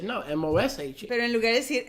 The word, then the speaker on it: Moshe: ¿Cómo pronuncia usted su nombre? Moshe? Moshe.